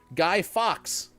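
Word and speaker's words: Guy Fawkes: You jumped out and you said it's pronounced like Fox. Okay, back in the shower. Guy Fox.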